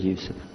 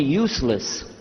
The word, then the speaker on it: Yusuf: yusuf do you say youssef and he said yusuf you're very good i wish you teach my wife she keeps mispronouncing it she calls me useless now how many of you were in the